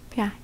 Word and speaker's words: пять: Now, here's a trick. Do you see how I wrote down pet? You could try and pronounce it as a pet, probably, with the sharp T in the end. But, because in this case, we're using a soft sign, which in Russian language softens the letter standing in front of it.